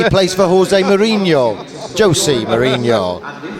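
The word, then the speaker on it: José Mourinho: Jose Mourinho. How they? Sorry, I can't do. I mean, how do you say that? Jose. You got to have a lisp in it. It's Spanish, isn't it, or Portuguese?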